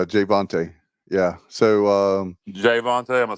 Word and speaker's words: Jayvontay: guys step up like jvonte there it's Jayvon yeah so um Jayvon am I saying his name wrong yeah Jay like a man's name vonte jvon not G vonte but Jay vonte okay gotta it's all